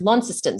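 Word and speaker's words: Launceston: Tasmania but tazi yeah yes that's right it's pronounced lestan so it's actually spelled the same way and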